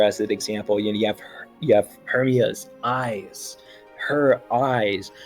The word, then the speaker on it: Hermia: You have Hermia's eyes, her eyes. Not just any eyes, Hermia's eyes. And so that does kind of like when you stress both of them, because of course Hermia is 3 syllables, but it tells you